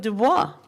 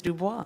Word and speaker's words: Du Bois: No, I'm thinking of Dubois. Oh, yeah, But people say yeah. Du Bois, but I think, have you No, not it done is- French? It's Dubois. No, it's Du Bois.